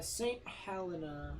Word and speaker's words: St Helena: y um maybe even sooner than that uh St Helena that's how you pronounce it so Morgan was right yeah Morgan